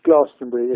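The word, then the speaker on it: Glastonbury: in somet and and I should say is pronounced glastenbury if you live in somet all right don't don't be don't be modern BBC and call it gastony because it's not called Gaston I went to gastony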